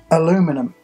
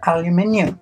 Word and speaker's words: aluminium: aluminum, then changed to aluminium. It's aluminum. Therefore, that is why there is some confusion about the pronunciation of it. Neither of us are wrong, because at one point it was called aluminum.